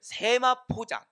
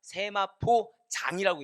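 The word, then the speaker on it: 세마포장: 다음에 성막을 세마 포장 그러니까 세마포 장이라고 읽으셔야 됩니다 세마포로 만든 장인 거예요 그니까 이게 잘못 오해를 하면은 뭐 세마 포장 예 그런 거 있잖아요 세마 설명이 안 되네요 예 세마 포장이 아니라 세마포 장으로 이렇게 읽으신게 저 정확하다는 거죠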